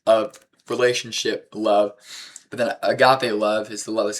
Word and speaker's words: agape: Our lives should, if you could describe our lives as Christians, it should be agape love. I'm pretty sure that's how it's pronounced. Agape. That's always always how I've heard it pronounced.